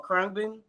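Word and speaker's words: Khruangbin: They call Krungbin. It's spelled kind of weird. It's KHURANGBIN. It's like a Russian word, but they actually from Houston.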